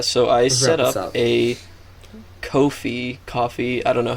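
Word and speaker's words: Ko-fi: and so yeah my i think it's supposed to be pronounced coffee because like the tagline the tagline is like buy us a cup of coffee right yeah so have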